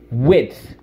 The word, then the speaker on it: width: this wood it did width you got to get that D in there we're strong we're strength